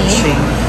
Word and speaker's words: ceviche: Ano yung parang i-pronounce yan? Ceviche? Kung ano man. So, yan yan. And then, sashimi. Ceviche.